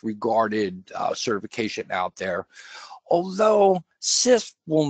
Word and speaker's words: CISSP: pronouncing acronyms correctly, but CISP is what most people will call it. CISP will get you in the door anywhere. It's probably the #1 highest regarded certification out there, although CISP will not really give